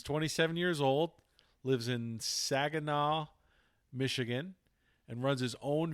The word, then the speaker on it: Saginaw: course so uh so where is sagan now am i saying it right saginaw saginaw saginaw michigan where is that uh